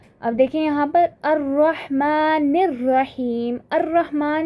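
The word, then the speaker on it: الرحمن: रॉ को शद्दा के साथ पढ़ा, अल रहमान नहीं बोला बल्कि अर्रहमान, तो ये क्या है हमारे पास? सोलर लेटर है।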